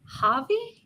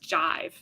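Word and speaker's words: Jaive: And I was like Javi like I was thinking like that was and then I Googled and it was like no it was it's pronounced Jive like J I V with an A.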